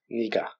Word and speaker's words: 네가: 네가, tu, c'est no avec la particule de sujet ga, ça devient nega, mais généralement à l'oral on le prononce niga.